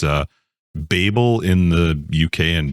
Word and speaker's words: Babel: A- L but it's Babel or Babel it depends on if you're American or um from the UK like it's pronounced differently it's a Babel in the UK and Babel in American language it's